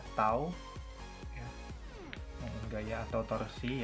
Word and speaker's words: tau: Ini dibacanya tau ya. Momen gaya atau torsi ya, nama lainnya torsi, itu disimbolkan dengan tau.